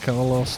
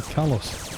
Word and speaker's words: Caloss: these things you mean you're not carlos too no i'm kalos too there's no r it's all right a lot of people pronounce it k lost isn't neither like leader